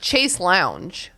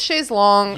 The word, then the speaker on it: chaise longue: But, like, today I was talking about the word chaise longue, which my dumb American brain is like chase lounge. But it's like, it's chaise longue. Yeah. I think that's how English speakers pronounce it, even though it's a French word.